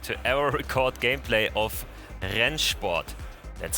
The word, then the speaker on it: Rennsport: ever record gameplay of ryan sport that's how it's pronounced henshbot it's a german word for racing sport basically and we have this